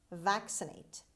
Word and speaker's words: vaccinate: number eight vaccinate vaccinate vaccinate the stress is at the beginning vaccinate means inoculate with